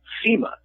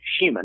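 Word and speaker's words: CIMA: that he pronounces it Shima. Now, his given name is Shima Nobunaga, and that's where he gets it from. But based on the spelling, which is C-I-M-A, you might think of it as Sima, as I did for quite a few years.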